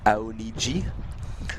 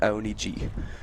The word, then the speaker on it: Aoniji: Apparently it is pronounced Aoniji, the brand. So I didn't have it quite correct. Aoniji. You were pretty close.